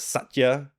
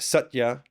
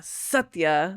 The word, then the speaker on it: Satya: the basic pronunciation right it's just it can be softer because if you go Satya then it's like really emphasizing the first kind of and what what do